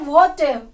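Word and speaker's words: what've: Vote हैव का बन जाता है वोटिव, वोटिव।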